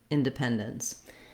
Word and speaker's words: independence: Letters D, E are going to sound more like da, so they're not going to have that clear E like in pen, in the pen syllable. I've written it here with the schwa, inda, independence. You could potentially also say it inda, independence.